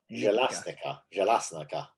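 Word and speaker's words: Bjelašnica: Jelasnica. Yeah. Okay. Yeah. You maybe get that. You got that better than me. Jelasnica.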